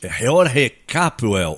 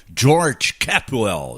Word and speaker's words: George Capwell: Olha, estádio reformado, ampliaram lá a capacidade do estádio Jorge Capwell, ou George Capwell, se você preferir a pronúncia em inglês.